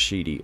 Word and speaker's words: Siddhi: With Matangi, she specifically confers Vak Siddhi, pronounced Shidi.